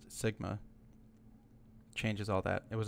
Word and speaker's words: SGMA: But the 2014 Sustainable Groundwater Management Act, pronounced SGMA, changes all that.